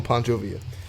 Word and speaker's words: Pancho Villa: two pounds of beer how do you say that Pancho Villa's it's calling Pancho via Pancho Villa if that